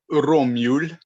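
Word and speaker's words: romjul: is called ROM Jewel so Rum Jewel it's pronounced romul but but it's it's that whole like not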